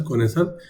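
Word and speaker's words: connoisseur: is this one koniser this is pronounced as kesser means the person who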